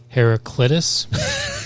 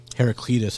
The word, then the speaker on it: Heraclitus: Heraclitus.